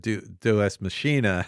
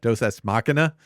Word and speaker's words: deus ex machina: But then it being so instrumental in the kind of Deus Machina, or how do you say that? Deus Ex Machina.